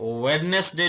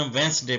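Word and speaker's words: Wednesday: वेंस डे ऐसे लिखेंगे इसमें डी साइलेंट है इसको वेडनेसडे नहीं पढ़ना वेंस डे पढ़ना है बुध का दिन वेनसडे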